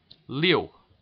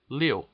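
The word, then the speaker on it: liu: page 32 uh will'll tell you how to pronounce it Leo Leo L I U go back here we go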